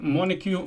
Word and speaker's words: Montague: This is Fort Montague, and that's how you pronounce the name.